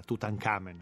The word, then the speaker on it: Tutankhamun: scopre la tomba di tutankhamun l'abbiamo pronunciato nella maniera egiziana tutankhamen no e scopre la tomba di tutankhamen così tutti quanti tutan hamun dovrebbe essere pronunciato nel modo egiziano antico scopre la tomba di